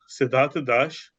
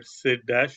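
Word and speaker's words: Sidhartha Dash: hi uh I'm sidat Dash or SID dash for us a pronunciation and simplicity from chis research I'm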